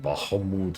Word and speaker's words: Bahamut: Yeah, they never called it Bahamut ever again.